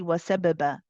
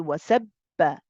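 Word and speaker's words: وَسَبِّحُوا: followed by a haraka, we don't need to do the bouncing. We don't say wasababa. We don't say wasababa. We say wasabba. Wasabba. The qalqala is not there.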